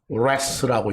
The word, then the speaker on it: wrath: 그 WRATH, wrath라고 읽습니다.